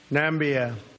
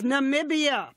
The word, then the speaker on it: Namibia: invented a new country nambia it's Namibia but what's a missing syllable and did he think